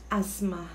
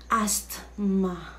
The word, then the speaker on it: asthma: quality our next 17 word how do you pronounce that it's asthma asthma for the us asthma asthma but hindi asked ma okay note a medical condition that makes breathing